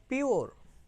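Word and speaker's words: pure: এখানে আমাদের যদি এই শব্দটি স্বাভাবিকভাবে উচ্চারিত করি, মানে স্বাভাবিকভাবে উচ্চারণ করি, তাহলে হতে পারে কি পি ইউ আর ই পুরে, পি ইউ আর ই পুর, কিন্তু এটা হবে কি পিওর, পিওর।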